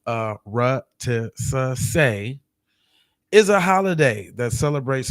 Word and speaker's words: Arutisuse: It says a Arutisase, pronounced Arutisase, is a holiday that celebrates foundational Black American culture of freedom, fighting, and resistance.